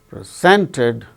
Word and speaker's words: present: present the chief guest presented a present so when it is used as noun it is present it is used as verb present second syllable gains stress now let us come